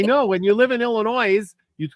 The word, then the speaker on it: Illinois: down Illinois too it's there is no noise in Illinois everybody always calls it Illinois yeah I know when you live in Illinois you'd call it Illinois